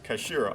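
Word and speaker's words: 頭: It's written as head in Japan, but it's pronounced as kashira, I believe.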